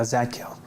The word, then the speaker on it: Zadkiel: Yeah, Zadkiel, like Michael.